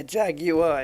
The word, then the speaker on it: Jaguar: it's not right it's Jaguar so please yeah Jag you are exactly yeah like yeah Volkswagen is like the Germans pronounce the v's like the F and the